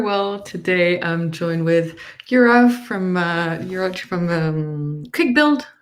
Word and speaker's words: Juraj: Today, I'm joined with Juraj from QuikBuild, right? Is that how you would? Yeah, Yeah. So you web pronounced it correctly.